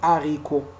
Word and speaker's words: haricot: On ne doit pas faire la liaison devant le H aspiré. Par exemple, dit haricot, dit haricot. On ne dit pas des haricots, on dit dit haricot.